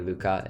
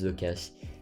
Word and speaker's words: Lucas: an s because some people call me luca and no my name's lucas we're okay so if